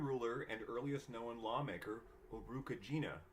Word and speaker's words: Urukagina: and earliest known lawmaker Urukagina, whose name rhymes with vagina if you want it to, or possibly by Enmetena, 2 centuries before the first female author, Enheduanna.